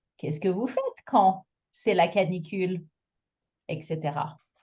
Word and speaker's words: fait: With a silent D and a silent T at fait and froid.